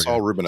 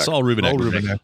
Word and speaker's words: Saul Rubinek: I always say his name wrong. What was it again? The author. Saul Rubinek. Saul Rubinek.